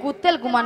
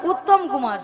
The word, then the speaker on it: উত্তম কুমার: কুত্তেল কুমার নয়, হ্যাঁ। বলো উত্তম কুমার।